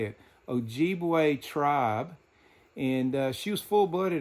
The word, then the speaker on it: Ojibwe: Ojibwe tribe.